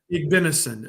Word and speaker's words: Igbinosun: over the internet for not being able to pronounce this. Davison Igbinosun. I got to say it right. What's that? Igbinosun, I think. Igbinosun.